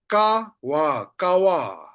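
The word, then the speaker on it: ཀ་བ: Then see here, kawa, kawa. When I say kawa, two syllable, ka and wa. That's why the second syllable is pa. That's why we read them as wa.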